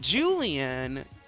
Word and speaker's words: Julien: made another another see I made another pronunciation mistake I call him Julianne and not Julian so for me that makes a huge difference so Jen and Julian